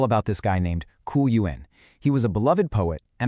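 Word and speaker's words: 鱼: For example, you eat fish, which is pronounced yu, because it sounds just like the word for surplus or extra.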